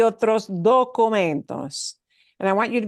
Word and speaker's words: documentos: that word documentos, because one of the cardinal sins that we English speakers do is we really, really want to say documentos. And we do have to pronounce this as documentos, documentos, with that nice o, right?